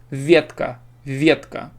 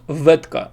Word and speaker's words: Ветка: want to say ветка, which is like a branch, like a tree branch. Ветка. You see? If I slow it down for you, Ветка. I just made it. Yeah, it's not software. I just pronounced Ветка. You see, this v transforms. It's not Vetka. It's not Vietka. No, it's v. So v becomes different. V becomes different. It becomes v.